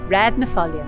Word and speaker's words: Raad ny Foillan: when you see a double a in manx like in red you get an a sound in the middle of the phrase we've got the word nuh and in this place name it means of the volume don't be confused by the way that it's spelt folian means gull so we have red whey of the folian gull red napholium you